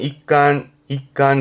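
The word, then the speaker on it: 一巻: 발음은 ik간 그래서 일권, 제1권.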